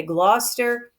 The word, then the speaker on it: Gloucester: to say gloutch ester British people a little more likely to say Gloucester it's just what you're used to neither one is wrong so I use blah Chester because that's sort of how it's spelled and when you're writing